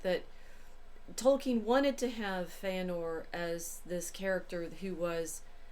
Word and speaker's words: Fëanor: um mother calls him fanor which I'm also conected in in this episode because I don't know how to say the names according two tolken pronunciation guide e are pronounced as in were so I'm trying to